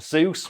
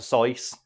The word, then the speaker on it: Seuss: Or the other one is Dr. Seuss, when it's actually supposed to be Dr. Seuss, which he wrote a little poem about, which is, it's not Seuss as in goose, it's Seuss as in voice.